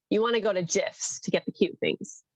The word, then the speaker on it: GIF: But most people call it GIF, so. Well, GIFs is phonetic because the soft G before an I, but I think it is graphic.